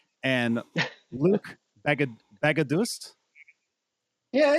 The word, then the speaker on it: Baghadoust: The GH make a H sound, and the second A is a different A, so it's Baghadoust. But we say Baghadoust, and usually people just say Luc because Baghadoust is too complex.